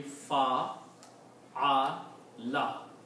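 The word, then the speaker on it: فَعَلَ: So now this sound will be fa a la.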